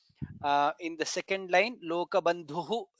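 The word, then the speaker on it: लोकबन्धुः: In the second line lokabandhuhu dha is mahaprana, lokanathaha dha is mahaprana, madhavaha dha is mahaprana, bhaktavatsalaha bha is mahaprana.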